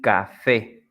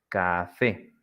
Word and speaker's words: café: Like in the examples we have here, colibrí, the strong sound, it's at the end, brí, colibrí, jabón, jabón, borrador, borrador y café, café.